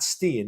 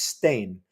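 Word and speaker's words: Stijn: It's not Stian, it's Stain.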